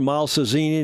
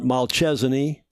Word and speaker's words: Malcesine: Malcesine, not Malchesine.